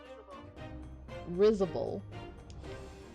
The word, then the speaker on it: risible: Risible.